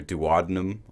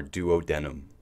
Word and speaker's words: duodenum: duodenum foot note 4 this organ is commonly pronounced two ways either duodenum or duodenum return to text fatty